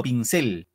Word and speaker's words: pincel: Pincel, ¿dónde va el acento? Pincel. En la pincel. I, profesor. En cel, profesor. En la cel. En cel, claro, es pincel. No así, pincel, es pincel. Igual, dos sílabas.